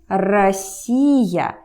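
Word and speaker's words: Россия: let's get another example Russia in Russian is Rossio here he is stressed listen to me Gracia Gracia so this OH gets reduced this rule is called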